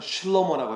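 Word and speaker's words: שְׁלֹמֹה: 솔로몬을 원어로 부르면 실로모라고 해요. 실로모 발음이.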